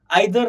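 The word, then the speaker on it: either: फिर उसके बाद है इधर एंड नीदर. तो इधर नीदर ऐसा भी प्रोनाउंस बोलते हैं, कभी कभार आइदर नाइदर, दोनों भी प्रोनाउंस एक्सेप्टेड है.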